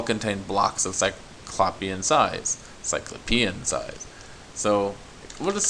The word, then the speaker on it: cyclopean: reading but just to give you a sense cyclopian i looked up using google encyclopedia cyclopean i mispronounced it because i was thinking it's something